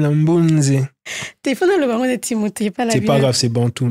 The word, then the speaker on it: Mbunze: Tu as mis le N. Mbunze. Ah, je l'ai prononcé comment? Mbouze. Mbunze. Ah, tu vois, tu as le petit N là.